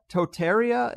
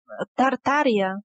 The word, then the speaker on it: Tartaria: been removed from history entirely is one called Totaria, if I'm pronouncing it right, that is somewhere in modern Russia? Tartaria.